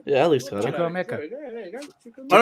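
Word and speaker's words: Chukwuemeka: He pronounced it right. Yeah, Alex got it. Chuko Mecca.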